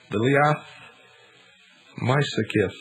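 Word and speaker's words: Liath Meisicith: the ark druid and this brooch was called delia my sickiff and i believe that i pronounced that sort of right it's spelled l-i-a-t-h the second word m-e-i-s-i-c-i-t-h and this was supposed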